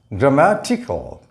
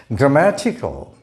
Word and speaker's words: grammatical: the first syllable grammar but the adjective form of the word is pronounced in a different way the sound here changes from air to a and this a now represents the ah sound so grammatical the a remains silent these two syllables together is pronounced just like the word t-i-c-k-l-e tickle grammatical grammatical this is subject subject